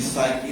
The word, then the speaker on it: psyche: colonizer's psyche, নিচে দেখো psyche, এটা দেখো কি এর উচ্চারণ হবে না। The word, তুমি সাইকি না শুনলো, আমি শিওর যে তুমি সাইকোলজি শুনছো।